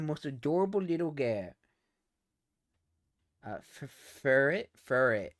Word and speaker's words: Furret: Uh, furret. Furret. H. Okay, that's how to pronounce it.